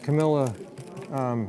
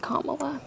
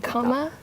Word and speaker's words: Kamala: I watch all of Camilla interviews. Her name is pronounced Kamala, by the way. Like Kamala. Really? Kamala.